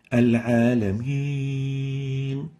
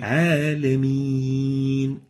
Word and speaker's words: العالمين: The second mistake is actually giving gunna to it. Mixing the sound of the extendable ya with a gunna, nasalization. An example of that is al-alameen. The proper way to pronounce it is like Hawsari's pronunciation. العالمين Alameen. So we need to avoid nasalization when pronouncing the ya and make sure that we pronounce it without gunna.